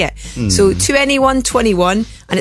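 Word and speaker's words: 2NE1: called cuz there's a they're spelled it's spelled 2 NE E1 so 2 ne1 someone people call them 21 as well yeah it's a bit confusing let's just call them 21 drill of thumb if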